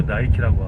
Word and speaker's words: 니케: 아브라함을 아브라함이라 하지 않고 에이브라햄이라고 하고, 승리의 여신 니케를 니케라 하지 않고 나이키라고 하고, 워터를 워터라 하지 않고 워러라고 하고.